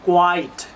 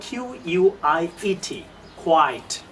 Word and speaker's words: quiet: অনেক কাছাকাছি, এটা হবে কোয়াইট। কোয়া আমরা সাধারণত ক বলি, বাট ইংরেজিতে ইজ কিউ। কোয়াইট, কোয়াইট, কোয়াইট মানে নো সাউন্ড, কোনো জায়গায় কোনো সাউন্ড ছিল না। যেমন বানানটা খেয়াল করেন, QUIET, কোয়াইট।